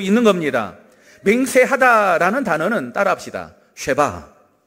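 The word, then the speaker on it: שבע: 쉐바. 네, 여러분 발음이 아주 좋습니다.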